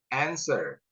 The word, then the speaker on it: answer: W, W, silent. Right. Answer. Wrist. Wrap. Whole. Whole. W-nya silent ya.